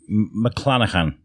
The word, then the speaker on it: McLanachan: Yeah better if it was for free but today uh we're speaking to local author Kate Mlanahan. That's right. Did I did I pronounce it right?